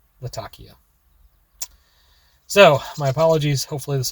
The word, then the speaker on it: Latakia: I'll admit first, I've been pronouncing it wrong. It is a port city in Syria, and it is in fact pronounced Latakia.